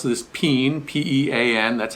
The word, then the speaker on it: Pean: we usually pronounce this peen p-e-a-n that's how it's spelled sort of like a bean like a can of beans okay this is a